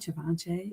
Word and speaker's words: Givenchy: Givenchy?